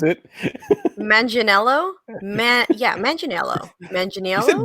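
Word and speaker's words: Manganiello: mangianello is also returning as that's how you pronounce it manginello man yeah imagine yellow engineer one okay we're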